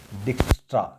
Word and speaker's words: Dijkstra: Out of this subject, we have three scientist name, and fourth one here is Dijkstra. J is silent.